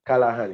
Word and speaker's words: Callaghan: and johnny callahan yes people pronounce it callahan yeah g silent well when i was